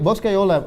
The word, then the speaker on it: Boscaiola: Boscaiola. Yes, Say it right. Boscaiola, what that means in Italy, it means like a bosco, a forest.